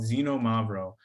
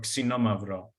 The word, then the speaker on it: Xinomavro: And the main grape that we talk about and that is grown in this area is called Xinomavro or Xinomavro with the proper Greek pronunciation.